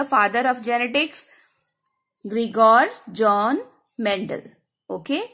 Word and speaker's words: Gregor: ये बच्चे स्पेलिंग गलत करते हैं, GREGOR, ग्रीगोर, then John Mendel.